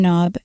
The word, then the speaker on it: knob: Yes, the K in knob is silent, and these things here are the hinges.